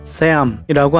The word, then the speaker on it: Sahm: 제대로 된 발음은 세암이라고 합니다.